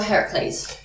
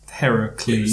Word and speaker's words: Heracles: is why he's called Heracles. It's the westernised version of Heracles, which became Hercules. Yeah. People didn't know how to pronounce Heracles.